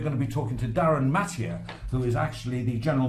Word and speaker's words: Darryn Mathee: And we've got a gentleman here who knows all about it, Darryn Mathee. Did I pronounce that?